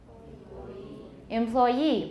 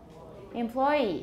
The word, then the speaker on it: employee: they're french loan words how about this word employee or employee he has 14 employees employees employees but either